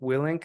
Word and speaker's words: Willink: There's that um, prior service celebrity, Jocko Willink, I think his last name is pronounced.